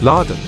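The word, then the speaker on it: ラドン: Pronounced in Japanese as Laden.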